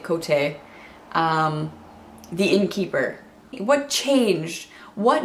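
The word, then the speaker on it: Kvothe: what the hell happened quote that made him become I'm pronouncing it Cote the innkeeper what changed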